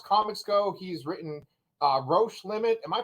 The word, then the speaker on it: Roche Limit: as far as comics go he's written uh roche limit am i pronouncing that right nailed it yeah nailed it okay cool someone said roach day limit in like an interview and i was like